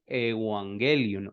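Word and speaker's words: εὐαγγέλιον: es una buena noticia Cómo se dice eso en griego se dice evangelion o evangelio sí evangelio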